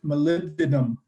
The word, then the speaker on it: molybdenum: this is greg and you pronounce it molybdenum phonetically molly be denim molybdenum hi this